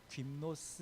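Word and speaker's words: γυμνός: 사용하는데이 그 헐 벗고라도 김노스 이렇게 이제 발음하거나 말이 이게 벌거벗은 이런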